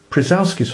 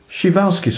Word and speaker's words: Przewalski: cope with the dinosaur this horse is called PR's horse or more commonly and appropriately shal's horse of course you could just refer to